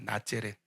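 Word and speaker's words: Nazareth: 나사렛은 여러분 이게 한자 병음으로 이렇게 돼 가지고 한국화된 그러니까 우리 발음하기 편한 단어인데 원래는 낮렛입니다. 나째렛 어원이 뭐냐면 네체류입니다.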